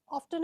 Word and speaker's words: often: to call me too often there always often and often both the pronunciations are correct okay the next one